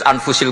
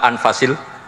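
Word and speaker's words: أنفس: saja di sini ditulis anfusil kutubu saya baca anfasil kutub karena maknanya kitab ter baik Kalau kitab terbaik bacanya bukan anfus tapi apa anfas ya nanti kamu debat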